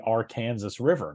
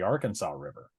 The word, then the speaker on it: Arkansas River: Uh that river is pronounced by locals as the R Kansas River, not the Arkansas River.